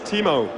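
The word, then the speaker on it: Timo: please tell us your name my name is teimo and how do you spell that t i m o so I actually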